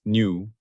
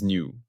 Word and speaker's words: nu: Its symbol is the Greek letter new pronounced new like new. I have mistakenly pronounced this as v. That was an error. It is new.